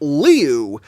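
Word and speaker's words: Liu: And he said that he pronounced that it's pronounced Leu.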